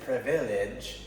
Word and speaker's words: privilege: you don't hear the you don't hear the eye it isn't privilege it's privilege let's read this together